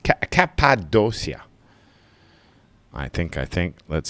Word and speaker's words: Cappadocia: is a place called um oh oh oh Cappadocia I don't know if I pronounce it right I'm probably ruining the name